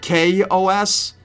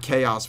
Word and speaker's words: Chaos: And yes, I know that this is actually that Chaos is actually pronounced K-O-S, but I prefer to call it Chaos because that sounds cooler to me.